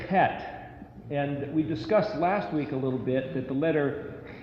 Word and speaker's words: Het: a little bit that the letter Het is the one letter with a very rasping, grating, obnoxious sound. It's like, so it's not Chet, even though it's often spelled with a CH, it's actually Het.